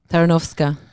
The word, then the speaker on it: Tarnowska: Tarnowska.